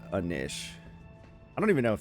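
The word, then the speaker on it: knish: would probably like a nish. I don't even know if they're I know he says rap snitch kishes but I don't think you pronounce it with the hard K like that but that nish was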